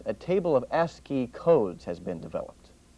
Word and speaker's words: ASCII: for information interchange or ASC III pronounced s key using this list for